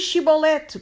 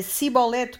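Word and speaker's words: Chibolete: E dizendo ele: não, então lhe diziam: diz, pois, Shibolete. Porém ele dizia Sibolete, porque o não podia pronunciar assim bem.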